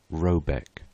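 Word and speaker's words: Rabaeck: a e c k pronounced something like roebek though that is not its name it is one of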